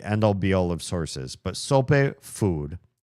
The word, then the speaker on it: sope: I mean, it's not necessarily the end-all be-all of sources, but sope, food. A sope, Spanish pronunciation, sope, is a traditional Mexican dish consisting of a fried masa base with savory toppings.